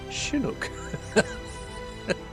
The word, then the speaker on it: Chinook: 100%, and it says it should be Chinook. Chinook. I'm never going to say that. It's after a Native American tribe, isn't it? Yeah. So they've probably got the right to decide how it's pronounced, Yeah, right?